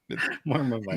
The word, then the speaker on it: Marmite: Marmite. No, Marmite. I don't know why you always say it like that. 2 syllables.